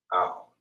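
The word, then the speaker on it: על: It is pronounced as owl. You understand? Or owl, which means over or upon in Hebrew.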